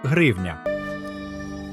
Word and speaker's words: гривня: складі як у французький багато хто помилково каже гривня але на голос правильно ставити нам гривня наголос завжди на и в першому складі і останнє слово на